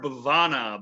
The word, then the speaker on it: Bevana: aaron gore brevano bovano uh that's how you pronounce that right uh yes sir bavana but most of the people around the lake